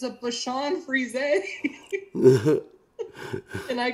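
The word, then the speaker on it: Bichon Frise: if you didn't know that that's how it's pronounced it's a bit freeze is what I said and they like stopped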